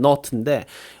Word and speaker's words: knot: not이라는 건 뭐냐면 knot에요 knot 큰 노트가 아니라 k는 묵음이라서 그냥 너트인데 원래 노트라는 거는 그거죠 매듭을